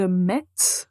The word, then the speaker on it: mets: mettre mais au présent quand vous prononcez le verbe mettre on entend pas la lettre T donc on écrit je